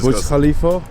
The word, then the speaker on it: Burj Khalifa: Burj Khalifa? Yes, Yeah, exactly. Burj Khalifa.